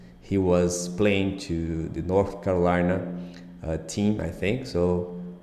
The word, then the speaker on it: North Carolina: North Carolina North Carolina pay attention the th sound at the end of the word North Sometimes It's tricky to pronounce North Carolina this is the state